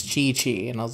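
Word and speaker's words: Qiqi: It took me a while to realize, even after everyone told me, like, it's not pronounced Kui Kui, it's Chi Chi, and I was like, okay, I didn't know.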